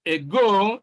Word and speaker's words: ago: B, ago. C, unless. D, legal. So you can see that in A, stress is on the second syllable and do. B, stress is also on the second syllable, go.